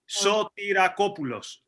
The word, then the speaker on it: Sotirakopoulos: Actually, it's very simple. You just read each syllable because it's easy. Sotirakopoulos. Okay. In one word, Sotirakopoulos.